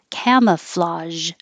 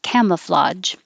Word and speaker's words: camouflage: This AGE is pronounced with a zh. Camouflage. Or you can pronounce it like a J. Camouflage.